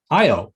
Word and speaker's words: Io: in the solar system we have io or eo depending on how you pronounce it one of jupiter's